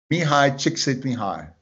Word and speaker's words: Mihai Csikszentmihalyi: Mihai Csikszentmihalyi. Mihai Csikszentmihalyi. Okay, that is how you pronounce it.